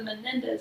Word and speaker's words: Menendez: What do we think about the Menendez brothers?